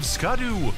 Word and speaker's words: Scadu: and radiant landscape of scadu SC it's pronounced Shadow alus a beautiful domain